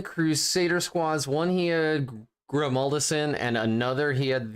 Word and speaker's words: Grimaldus: You're pronouncing Grimaldus wrong, as I just did. It's Grimaldus. Oh, just in case you were wondering. So okay, so more nasally. More nasally. More nasally. That's how you say it.